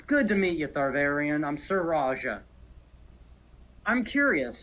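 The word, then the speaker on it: Thavarein: your name I have to read how to pronounce this thank you it's averian if you want to spell it it's t-h-a-v-a-r-e-i-n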